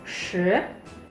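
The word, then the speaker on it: 十: 10 itu shi. Jadi giginya rapat, lidahnya tekuk ke belakang.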